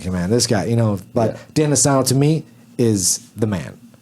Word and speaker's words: Dan Inosanto: Dan Inosanto.